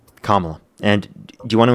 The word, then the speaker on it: Kamala: Uh, it's Kamla. And you can say Harris if you have an issue with pronouncing it.